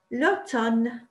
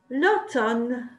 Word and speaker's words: l'automne: They pronounce the N, but the letter M is silent. So it sounds like this. L'automne. L'automne. L'automne.